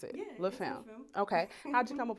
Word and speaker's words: Femme: Because I never want to mispronounce it. Yeah. Femme.